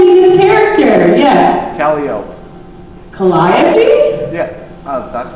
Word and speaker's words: Calliope: Calliope? Yeah. That's how you pronounce it.